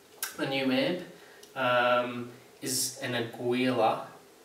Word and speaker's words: Aguilar: So without any further ado, the new amp is an Aguilar. I think that's how you pronounce it, Aguilar, A-G-U-I-L-A. They're made in New York, I believe. So it's either Aguilar or Aguilar.